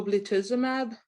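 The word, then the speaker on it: ublituximab: t a f y m a b o blitzimab is that what that yes that is what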